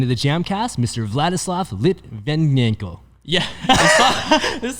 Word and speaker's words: Vladislav: sent me an audio message yeah and you pronounce it so how do you say your name properly vladislav so you guys understand why i had so